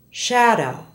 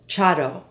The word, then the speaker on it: shadow: is blown through slowly there is no sh sound sh in Spanish so Spanish speakers will often say this like a ch ch listen to the following sh words and how they're mispronounced in Spanish Shadow is often said as chadow cash not Kat Usher not oer and she not Chi note